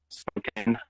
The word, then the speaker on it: Spokane: Pronounced Spokane.